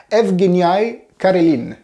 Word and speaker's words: Evgeniy Karelin: Et c'est le cas de, attention, roulement de tambour pour la prononciation du russe, Evgeny Karelin.